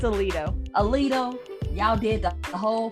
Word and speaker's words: Aledo: It's Aledo.